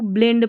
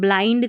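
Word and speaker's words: blind: अब यहां पर देखिए इसको ब्लेंड पढ़ना नहीं है। आई एन डी है आई एंड करके। कहीं-कहीं पर इसको एंड करके भी पढ़ा जाता है। तो वो प्रैक्टिस से। ठीक है? तो यहां पर इसको तो हम ब्लाइंड करके पढ़ेंगे। ब्लेंड नहीं पढ़ना है।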